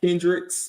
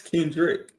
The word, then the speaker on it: Kendrick: It's not Kendricks with an S, no S. It's Kendrick.